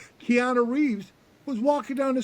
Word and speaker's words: Keanu: his name Karina uh how do you say his name Karina Reeves guy played in speak um keano Reeves Keana Keana I never say his name right Tiana Reeves was walking down